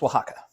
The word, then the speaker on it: Oaxaca: It's actually pronounced Oaxaca.